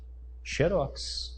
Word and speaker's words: xerox: Como é que eu tenho que ler essa palavra aqui? Desse jeito. Xerox. Assim. Qual que é a sílaba tônica? Essa aqui. Ela é o quê? Oxítona. Terminou em aioen? Não. Então ela não é acentuada. Só que o grego xeros me permite pronunciar assim também, ó.